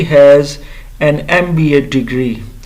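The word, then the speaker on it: MBA: जैसे कि ही हैज़ एन एमबीए degree. सो इसके साथ भी ई एम की जो है साउंड आ रही है यानी एम।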